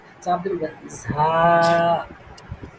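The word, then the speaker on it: ز: জাল হ্যাঁ এবার আসেন র র র র ঝা জায়ের উচ্চারণটা আমি করতে পারি না হুজুরা খুব ভালোভাবে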